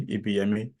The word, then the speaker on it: Ibiyemi: that's what EBS, actually, EBME. So, and to the extent he had to tell even his colleagues that you have to pronounce my name with the intonation that is there, is EBME, okay, EBME.